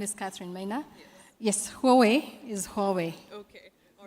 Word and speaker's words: Huawei: tell us your name and how do we pronounce Huawei my name is Katherine Maya yes Huawei is Huawei okay all right Katherine um what